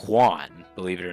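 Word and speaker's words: Ioan: His first name though is spelled I O A N, but it's pronounced Juan, believe it or not.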